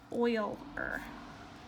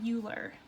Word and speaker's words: Euler: make a note here this is pronounced oil or right not Euler not like cooler so an Euler path